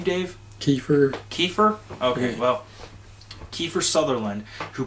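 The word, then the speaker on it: Kiefer: Kyer Southerland or kefir southernland how do you pronounce his name Dave kefir kefir okay well kefir southernland who played Snake or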